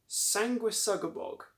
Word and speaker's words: Sanguisugabogg: So I believe that it's pronounced Sanguisugabogg.